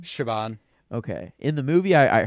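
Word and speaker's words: Siobhán: How do you pronounce her name? Shaban.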